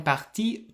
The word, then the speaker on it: partis: you say ils sont partis tôt. Ils sont partis tôt, but you put an s on the end of partie. And again, this s is silent, but in writing you can see it.